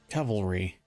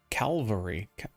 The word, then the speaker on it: cavalry: in here diagram cavalry Cavalry gauntlets I don't I always want to say Calvary now I want to pronounce it for some reason Cavalry cavalry and I